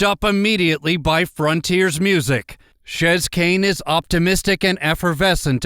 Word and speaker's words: Chez: name, and I know a lot of people mispronounce it with the French pronunciation of Chez, but it's Chez. Yeah, it is Chez.